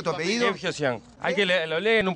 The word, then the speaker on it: Guevgeozián: ¿Cómo se pronuncia tu apellido? Gebgyosyan. Hay que lo leen un par de veces y ya lo agarran enseguida. ¿Cómo es? Permiso. Gebgyosyan.